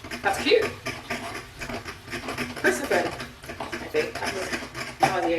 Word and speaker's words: Persephone: Most people call her Persephone, as in phone. That's cute. Persephone, I think.